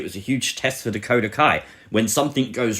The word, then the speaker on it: Dakota Kai: for clarification's sake we should play it like dakota sky dakota kai i know i said it wrong you dummies